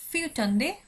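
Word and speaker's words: fjortonde: ফিউটন্দে ফিউটন্দে এখানে আর এর উচ্চারণটা খুবই আস্তে করা হয়, আরটাকে শোনা যায় না, মানে উজ্জ্ব থাকে আসলে আরটা।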